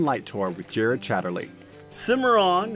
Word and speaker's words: Cimarron: tour with Jared Chatterley Cimarron is Spanish in origin is actually pronounced si model it means wild untamed